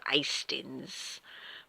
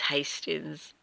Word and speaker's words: Hastings: Or if you're a real southerner, you might go Hastings. But it is Hastings. I don't call it Hastings like some do. But, yeah, it's not meant to be a silent H at all.